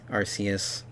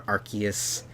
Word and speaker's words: Arceus: pavía kiritani or kiritani Arceus or Arceus however you want to pronounce it and all the ultra